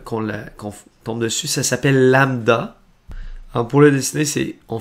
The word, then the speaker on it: lambda: Et ça se prononce comme ceci. Lambda. C'est un peu particulier comme mot quand on voit ça pour la première fois, là. Mais c'est simplement une lettre grecque.